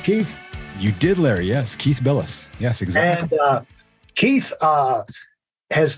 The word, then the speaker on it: Bilous: Did I pronounce that right, Keith? You did, Larry. Yes, Keith Bilous.